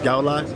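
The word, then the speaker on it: Goudelock: I don't know how to pronounce his name. I think it's Gulak. Yes.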